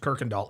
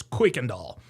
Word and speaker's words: Kuykendall: And by the way, a lot of people pronounce this Kirkendall. It's not pronounced Kirkendall, it's Kuykendall.